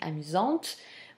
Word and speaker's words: amusante: So by making the agreement between the noun and the adjective, amusant will receive a mute e, which in turn is going to give the pronunciation amusante.